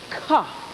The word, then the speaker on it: Ka: And this black dot was a part of their alphabet that stood for the letter H or K. Ka. That's how you pronounced it.